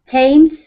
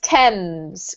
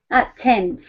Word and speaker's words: Thames: So tames, whistle, and walked. Good. In walked, the T sound is actually weirdly the D here, right? Mm-hmm. Well done. This is pronounced Thames, Carmen. Thames.